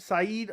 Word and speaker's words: Said: a bad card set saeed i think is how you pronounce it nurmagomedov versus douglas